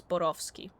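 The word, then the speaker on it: Borowski: I don't know how the creators of the game intended for it to be pronounced, but it is a Polish last name, so it would be pronounced as Borovski.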